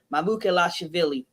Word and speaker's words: Mamukelashvili: And one you didn't even want to pronounce his name, but last name's pronounced Mamukelashvili. That's how I pronounce it.